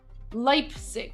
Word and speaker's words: Leipzig: Leipzig, is that how it's pronounced? Leipzig.